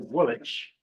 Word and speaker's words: Woolwich: let me point out they would pronounce it will dropping that second W of course while it